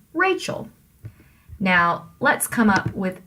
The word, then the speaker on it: Rachel: name to begin with Rachel you put the stress on the first syllable Rachel which means that it has to be a trochee right you don't say Rachel that would be trying to make it an IM when it isn't you say Rachel now let's come up